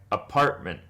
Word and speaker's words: apartment: You can kind of think of this in words like apartment, apartment. Nobody ever really pronounces the T like apartment. The T becomes a bit of a glottal stop. People say apartment. You can hear there's a brief pause after you say apartment.